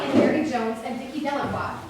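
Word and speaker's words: Delacroix: mary jones and dickie delawa the villagers pronounced the name dalek freud eventually made a great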